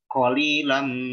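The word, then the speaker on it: قليلا: Jadi bacanya qalilan ma tashkurun. Qalilan. Nah, jadi kaf beneran. Gitu ya, kesalahannya yang jadi kaf beneran. Nah, ini yang keliru.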